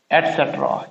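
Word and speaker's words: etcetera: तो इसका जो सही प्रोनाउंसिएशन है वो है एट सेट रा, CET एटसेट्रा। इसका प्रोनाउंसिएशन है एटसेट्रा, एटसेट्रा, एटसेट्रा।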